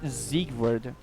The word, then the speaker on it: Siegward: To your va- I remember that his name means something like... there's something to do with victory, because Sieg. But every time he says his own name, he pronounces as Siegward.